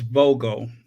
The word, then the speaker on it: Vogel: It is Vogel. Vogel. Isn't it German for a bird? Vogel. A. Vogel. Vogel. Or would it be Wogel? Not Vogel. Wogel. No, the W is pronounced as a V.